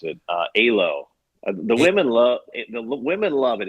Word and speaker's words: Alo: You know what I think, Puck, is try this new trendy store in Bellevue, and I don't even know how to pronounce it. Alo.